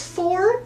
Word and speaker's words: Fforde: I think it's Fforde, but there's 2 F's and an E in there.